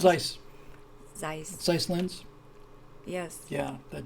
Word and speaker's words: Zeiss: How you pronounce it? Zeiss.